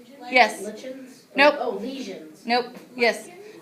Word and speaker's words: lichen: Lichens? Nope. Oh, lesions. Nope. Yes. Lichens. Okay, so it's pronounced like-en.